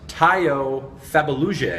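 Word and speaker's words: Tayo Fabuluje: tackle from TCU, whose name you're going to pronounce for us. Tayo Fabaluje.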